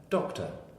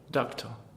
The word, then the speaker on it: doctor: It's the second syllable here of doctor. It's called a schwa. It's a light half syllable. It comes from the Hebrew Jewish to mean a sound that almost isn't there. Doctor. Doctor.